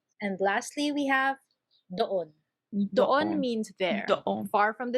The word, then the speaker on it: doon: It's pronounced as doon. Doon. Though you Doon. will hear it a lot as don or dun.